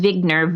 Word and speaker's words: Wigner: to google this paper so it's Eugene Vig nerve ignore spelled with the W and and the title